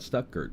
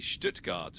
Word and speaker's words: Stuttgart: What can you tell me about Stuckgurt? Am I even saying it right? You're pretty close. It's basically Stuttgart with a bit of that German sh sound at the star.